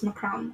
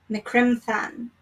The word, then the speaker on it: Criomthann: Because I was looking it up and I heard it was Macron. Okay. Macrim Than. Okay, I'll pronounce it correctly from now on.